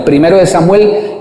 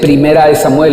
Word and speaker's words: primero de Samuel: Cuando evocamos este libro, no se dice primera de Samuel, acostumbran algunas personas a decirle primera de Samuel, primera de Crónicas, y es equivocado, semánticamente es incorrecto, porque